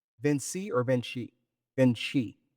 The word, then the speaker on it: Vinci: Vinci or Venshi? Beni. Right. He does the Latin pronunciation. Vinci.